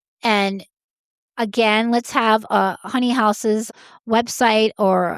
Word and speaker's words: Haus: It's Honey House Vintage, and that's HONEY House, which is spelled HAUS. House.